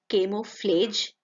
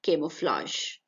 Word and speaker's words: camouflage: Again, it is not camouflage but camouflage.